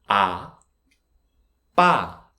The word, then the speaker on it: 아빠: First syllable. What is the sound of the consonant? Exactly. There isn't any sound, right? This is very important. This circle-shaped consonant has no sound. It's placeholder, and the sound of the vowel is ah. So this syllable is ah. Ah. Next syllable. This double consonant is b. Higher pitch. B. The vowel is ah. So ba. Ba. 아, 빠, 아빠, 아빠, 아빠, 사랑해요.